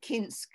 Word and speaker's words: Koinsk: What I know about Koinsk is, which in my family we called it Kinsk, right? So I think that's the Yiddish pronunciation.